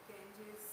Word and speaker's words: Ganges: And why we pronounce it Ganges, why not Ganga? No, Ganga is good to pronounce. English people, they pronounce Ganges, and in English language it is...